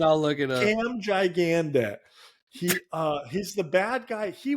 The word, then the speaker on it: Gigandet: Cam Gigandet. He's the bad guy. He was in this movie. Is what kind of put him on the map. I would say Gigandet. That's how I pronounce it.